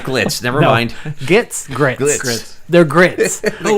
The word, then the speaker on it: Gitz: So you said it right the first time. You didn't say glitz or Glitz. grits. It was Gitz.